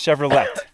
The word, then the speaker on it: Chevrolet: It's Chevrolet.